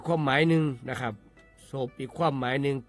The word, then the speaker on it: ซบ: คำ ว่า ศพ ครับ ศพ เขียน ซอโซ บ่อ แม่ ไม้ รวม กัน แล้ว อ่าน ว่า ศพ ครับ ศพ มี อยู่